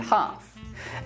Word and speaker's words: half: Other cases of a silent L are could, should, would, calf, and half.